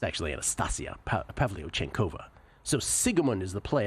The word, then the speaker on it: Pavlyuchenkova: Should have had you try to pronounce that. It's actually Anastasia Pavlyuchenkova.